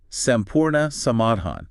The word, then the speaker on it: संपूर्ण समाधान: a proposed system called Buon yeah which is pronounced soraa samadan right thanks for that meaning complete solution and